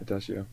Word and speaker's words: adagio: is Adagio Adagio how do you say that adio adio adio it means slowly in Italian and